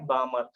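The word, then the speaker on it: Balmer: यस, लक्षामध्ये ब्राह्मण नाही, बामर.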